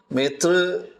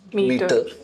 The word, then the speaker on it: Métr: So Metr, actually a lot of people mispronounce it as meter.